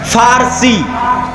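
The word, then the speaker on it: فرس: পারস্য মানে ফারসি। বাংলায় বলে প। কিন্তু ওটাই আরবিতে আছে ফারসি। ফুরস। কেন আরবিতে পর কোনো উচ্চারণ নাই। আরবিতে পরো। উচ্চারণ নাই। সেটা আমরা পারস্য বলতেছি ওটাই আরবিতে বলে ফুরস, ফারসি।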